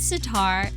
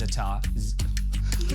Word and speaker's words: za'atar: And it's always za'atar. Za'atar. I feel like it's like a hi-ya when you say it. It's like za'atar. Yeah, she always says the R is silent.